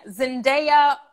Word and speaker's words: Zendaya: that's gonna be our communities okay next question zendaya that's how you pronounce it zendaya winning the emmy for outstanding